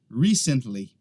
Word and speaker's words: recently: O que acontece é que às vezes algumas pessoas pronunciam ela recently. Eles acabam colocando a ênfase no lugar errado, é na primeira sílaba.